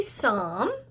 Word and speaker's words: Psalm: is found everybody say some remember that P is silent 118 verse 1 so